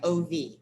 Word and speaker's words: of: in the of because of is pronounced like ov your subconscious mind has